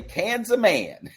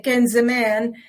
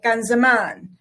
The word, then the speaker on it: Kan Zaman: of uh anglicizing sometimes somebody's uninformed they would say can's a man well the truth of the matter is it's all dialect and pronunciation is informed by dialect so somebody from one region of Lebanon might say Kenzie man and somebody from another region might say kanzaman so it just depends so right here you